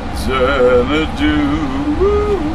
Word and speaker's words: Xanadu: How could things that begin with the letter X be pronounced like a Z? Like Xavier Cugat or Xanadu.